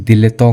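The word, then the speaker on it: dilettante: यह वाला वर्ड है ये बेसिकली फ्रेंच वर्ड है ये उतना आता तो नहीं है बट मुझे लगा ऐड कर देना चाहिए इसे हम लोग प्रोनाउंस दिले तो कहते हैं ठीक है ना इस हम प्रंट करेंगे दिले तो इसका बेसिकली मीनिंग होता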